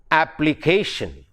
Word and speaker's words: application: In words ending in ION, the stress is on the penultimate syllable. Example, in a word like application, the word ends with ION.